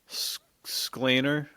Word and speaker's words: Sklenar: a video of Brandon Sklenar. Dude, Sklenar, Yeah, I don't know. Sklenar. That's how it's said.